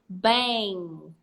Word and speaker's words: bang: so is the ing so when we say these words what are we gonna say bang brain strong stop there I'm a man you are not going to say bengi bring strong you will stop where that's where you stop so let's try again